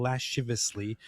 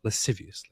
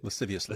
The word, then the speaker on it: lasciviously: There is however no objection in other enjoyments like touching livously. Hugging and whatever and rubbing how do you say it? Lasciviously. Lasciviously.